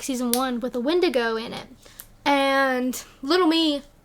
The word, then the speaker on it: Windigo: instead of the E the I at the beginning like w-i-n-d-i-g-o emphasis on wind because it'd be fast so it wasn't wendigo it was wind wind and I kind of